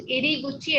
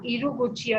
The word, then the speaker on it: 入り口: So remember, it is iriguchi and not iruguchi.